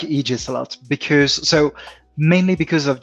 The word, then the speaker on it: Aegis: where I do like Aegis. That's how you pronounce it, right? Aegis. Close enough, yeah. On the dual vowel, it's usually the second vowel that gets the hard sound.